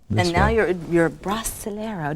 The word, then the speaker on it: Brasileiro: And now it's this And now you're Brasileiro. Did I pronounce that right? Brasileiro. Brasileiro. Perfect.